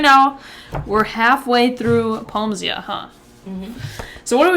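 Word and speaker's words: Poemsia: Peomsia?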